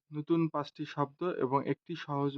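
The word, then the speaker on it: non: ন, নাসিক্য বর্ণের মতো নাক দিয়ে এটা উচ্চারণ হবে, ন।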